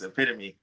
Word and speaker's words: epitome: my wife had a I pronounced an epitone home my wife had to call me she was like hey you might want to address that video because it's epitome me that was a pretty